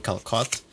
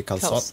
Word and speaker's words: calçot: Apparently that way just to signify that you pronounce the C soft instead of hard. So instead of saying calçot, you'd say calçot Calçot. or something like that.